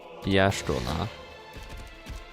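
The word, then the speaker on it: Y'shtola: So, yola is more pronounced as Yashola. Oh, that makes sense. That's why it's pronounced like that in like uh the Japanese by by the Japanese.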